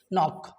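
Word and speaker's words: knock: तो के का एक बहुत ही सिंपल लॉजिक है फ्रेंड्स कि किसी भी वर्ड के स्टार्टिंग में, बिगिनिंग में यदि आपको के एन का कॉम्बिनेशन मिल जाए, किसका कॉम्बिनेशन? के और एन का, तो हमें सिंपली किसको साइलेंट कर देना है? के को।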